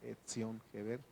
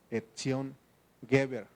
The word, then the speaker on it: Etzión Geber: Y fíjense, dicen cómo se pronuncia esta palabra Etzión Geber. Se pronuncia, ponen una, en vez de la Z, le ponen una T y dice Etzión, Etzión Geber, así, Etzión Geber, o Weber, así.